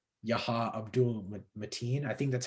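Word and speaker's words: Yahya Abdul-Mateen: plays black manta i don't know how to pronounce the name it's like yaha abdul mateen i think that's how you pronounce it personally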